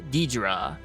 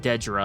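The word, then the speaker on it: Dedra: some advancement in surreal's story as he meets Deidra oh my bad it's actually pronounced deadra I've been mispronouncing her name this entire time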